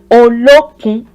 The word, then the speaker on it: Olokun: Olokun. This is a 3-syllabled one.